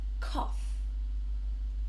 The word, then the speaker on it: cough: So, this has very strange spelling, but this gh makes a f sound. And so, it's cough.